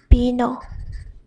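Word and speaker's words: vino: is v o but in the word it's pronounced as ba ba same as b. For example, bino which is wine.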